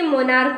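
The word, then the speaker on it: monarch: भी हम पढ़ेंगे तो अंत में सीच है लेकिन इसका जब हम उच्चारण करेंगे तो मोनार्क यानी कि सीच को क बोलेंगे मोनार्क क बोलेंगे सीच को क्या बोलेंगे क बोलेंगे तो इसमें भी हम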